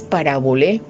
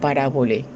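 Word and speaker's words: παραβολή: La pronunciación es parabolé, así está en el griego, parabolé.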